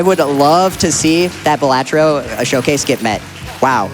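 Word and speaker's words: Balatro: had to donate money to correct him it's pronounced batro all right but an update on that we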